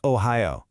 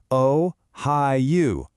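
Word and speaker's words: おはよう: So, from now on, when you think good morning, I want you to think ohayo. Go on, try saying it out loud with me. O-hi-yu.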